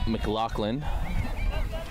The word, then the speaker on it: McLaughlin: It is pronounced Mclaclin.